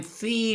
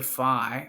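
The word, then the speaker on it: phi: Theta and the cosine Fe doesn't change because we're only looking at the Theta angle or the FI I keep saying F but it's fi f fof let me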